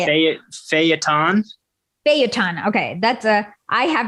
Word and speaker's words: feuilleton: feuilleton methods.